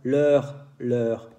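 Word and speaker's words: leurs: Por fin, si hablo de ellos, ellas, en francés se dice los tres igual, leur. Aquí hay un S que no se dice, entonces los tres se dice igual, leur.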